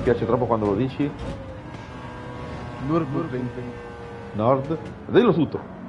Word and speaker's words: Nürburgring: Come si pronuncia giusto, Kevin, per cortesia, perché mi piace troppo quando lo dici? Nürburgring.